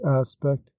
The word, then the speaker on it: aspect: be attached for example we now always pronounce the word aspect with the accent on the first syllable in the time of